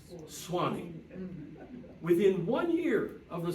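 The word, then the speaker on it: Swanee: Gulf of Mexico and he took out the U because he needed only two syllables so suani became Swani within one year of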